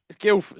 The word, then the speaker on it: Guildford: it Guildford you know you don't really pronounce it Heavy D I've noticed that though I've noticed people just say Guildford okay all right okay all right Guilford then I like Guildford